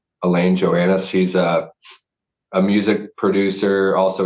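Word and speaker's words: Alain Johannes: Also, Elaine, I think his last name's pronounced Joannis. Elaine Joannis.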